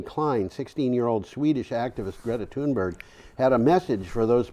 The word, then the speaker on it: Thunberg: I heard her called Thunberry. I actually went to find out how this is pronounced Yeah. in Sweden. I don't think I could duplicate it. Greta sounds more like Greta. Okay. Greta. Yeah. So it's like 4 syllables. Thunberg is Thunberg.